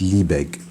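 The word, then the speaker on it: Liebig: I think in in German you pronounce it lie. Uh and in English it's liebeg. Uh so uh liegs I'm going to pronounce in English.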